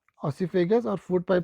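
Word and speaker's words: oesophagus: Pronunciation का ध्यान रखेंगे, ऑसीफेगस। अगर प्रोनाउंसिएशन में कहीं दिक्कत हो रही हो तो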